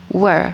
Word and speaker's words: were: Were, bukan where bacanya, tapi were.